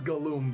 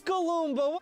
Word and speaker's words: Galoomba: its name has an extra syllable and is way more fun to yell. Look at this Galumba. Look at this Galumba!